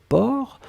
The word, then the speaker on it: porc: la dernière chose c'était port alors souvenez-vous que port on ne prononce pas le ces finales d'accord mais on